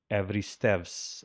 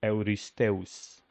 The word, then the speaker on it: Eurystheus: So today, the name would be pronounced Evristevs, I believe, according to the devious Greeks version here. But in ancient Greek, I think it should be closer to Euristeus.